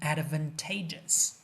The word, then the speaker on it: advantageous: advantageous 注意 advantage 它的名词形式发音是 advantage，但形容词就改变了，就变成了 advantageous。第一个 a 发音就变成了 i 大口 i，第二个 a 变成了 n advantageous，具有优势的形容词。Next one, commercial loans of the same size